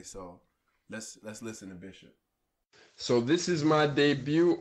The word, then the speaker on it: Bixop: off my name is bishop I don't know that's B I ex o P I spell it with the Portuguese in Portuguese yes the X has the SH o P and I speak Portuguese